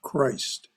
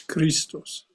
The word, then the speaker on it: Christ: that word is pronounced Christ I know that in Greek it's Christos but in English it's Christ I'm sorry to interrupt